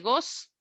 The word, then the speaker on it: goes: Entonces, goes sería la respuesta de la SG, o sea, al verbo goes, go se dice sin la E, pero con la ES se dice goes, no se pronuncia la E.